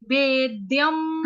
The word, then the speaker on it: वेद्यम: वेद्यम, हाँ। वेद्यम, जैसे विद्या वाला देव है ना, ये वो है देव। ऊपर जो बिंदी है उसको हलंत म पढ़ेंगे, आधा म।